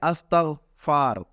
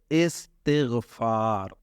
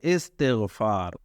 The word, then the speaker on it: استغفار: بعض لوگ کہتے ہیں استغفار، اس کا درست تلفظ استغفار نہیں ہوتا، جیسے چھٹے کلمے میں نا، چھٹا کلمہ استغفار لوگ کہتے ہیں، یہ استغفار نہیں ہوتا، اس کا درست تلفظ ہے استغفار، یعنی الف کے نیچے زیر اور سین کے بعد جو ہے تے کے نیچے بھی زیر ہے، استغفار۔ اس کا لفظی معنی